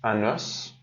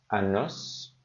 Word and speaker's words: os: pardon elle elle lance unos il faut faire attention aussi quand c'est masculin pardon quand c'est singulier on prononce le S quand c'est pluriel on ne prononce pas le S un os des f